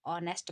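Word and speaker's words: honest: इसका यह है कि इसमें एट साइलेंट है जैसे हम इसको नेस्ट नहीं पढ़ते जबकि ऑनेस्ट पढ़ते हैं तो इसमें ओ साउंड आ रहा है इसलिए यहां पर एन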